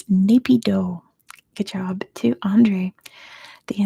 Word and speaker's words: Naypyidaw: Yeah, Naypyidaw is how you pronounce it.